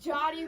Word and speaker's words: Yari: We got Yari. Why did I say it like that? Why did you say it? It's Jotty, but it's spelled like Yari.